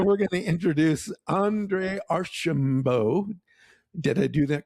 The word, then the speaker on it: Archimbaud: that he has an incredibly hard name to pronounce. So So we're going to introduce Andre Archambo.